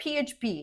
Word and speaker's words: PHP: PHP is easy. Just say each letter, PHP. It's just like saying FBI or USA.